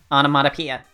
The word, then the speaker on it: onomatopoeia: be burned at the stake for sorcery it's pronounced onomatopoeia the GAO part just means face so the